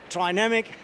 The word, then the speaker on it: Trinamic: please help us out oh the german one is dynamic of course yeah but we are an international company we sell most of our products outside germany so it's try namak but i personally like